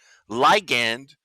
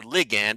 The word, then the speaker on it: ligand: of the Posta neuron they're called liand or ligand I've heard it pronounced both ways I like Lian better which one's which one's totally correct I don't know anyways but when the